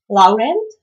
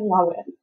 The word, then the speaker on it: Laurent: First, Laurent, it should be probably said Lauren or something like I said Laurent.